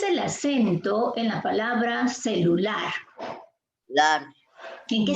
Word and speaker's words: celular: Es celular. Ahí se nota la pronunciación, celular. Se nota allí la presencia del acento en la sílaba lar.